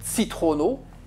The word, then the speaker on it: citrono: Alors, cette lettre-là se prononce tso, donc citrono, et cette lettre-là se prononce tcho.